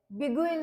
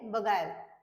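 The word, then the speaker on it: beguile: सांगित आहे कारण की तुम्हाला माहित असायला पाहिजे की ते बिगल नाही काय आहे ते बगायल बगायल ओके नेक्स्ट बघूया आपण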